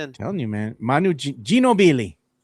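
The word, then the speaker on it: Ginóbili: Remember that's how you used to say his name? They couldn't say his name right. Well, that that that's that's how you pronounce it actually. That's the right they would say go. Genobi is just how we is how we say it.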